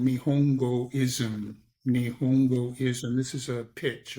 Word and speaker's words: Nihongoism: And my focus right now, I have a Substack which is called Nihongoism. Nihongoism. This is a pitch, okay? It's spelled Nihongo.